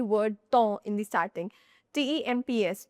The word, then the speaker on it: temps: T E M P S, temps. So, here P and S at the end are silent.